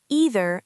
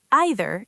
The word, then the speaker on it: either: Pronunciation either either and neither neither. Both are acceptable.